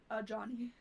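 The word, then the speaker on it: Ajani: o like Johnny Bravo so the name is a Johnny a John yeah oh my gosh I'm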